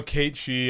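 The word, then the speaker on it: Cait Sith: But But really like He's pretty unique as far as oh yeah, no, I know Kate She. Yeah, I just pronounced it wrong. Yeah. Gaelic pronunciation.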